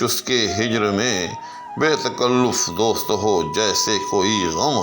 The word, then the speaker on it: تکلف: لیں کہ یہ تکلف، یاد رکھیے گا کہ یہ تفعول کے وزن پر ہے، تلفظ، تکلف، تصنع، ان سب میں یوں سمجھیں کہ جو عین کلمہ ہے اس پر ہمیشہ پیش ہوتی ہے۔ کہنا اس لیے چاہ رہا ہوں کہ عام طور پر تکلف دوست کہتے ہیں، تلفظ کہتے ہیں، جو کہ درست نہیں ہوتا۔ درست جو ہے لفظ وہ تکلف ہے، یعنی لام کے اوپر پیش ہے۔ اسی طرح سے درست